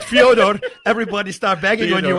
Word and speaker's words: Fyodor: You said Fyodor. So when you said Fyodor, everybody start bagging on you, and you say, well, it's actually what his mother calls him.